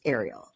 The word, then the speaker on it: Ariel: And I did learn, because I paid attention on this episode, that her name is pronounced Ariel, like the mermaid. The mermaid. Yeah. Ariel gets a rose from the group date.